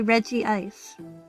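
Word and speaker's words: Regice: I have had fights with my siblings because I insist it the only correct way to pronounce it would be Reggie Ice cuz that fits with the naming scheme.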